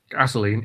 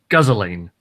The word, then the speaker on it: gasoline: okay it's like how you don't pronounce petrol gasoline it's guzzoline bad trail gaza lane